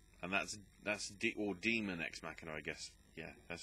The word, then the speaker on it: Daemon X Machina: Daemon X Machina, and that's or Demon X Machina, I guess. Yeah, that's how you pronounce it. Demon X, as in the letter X, and then Machina.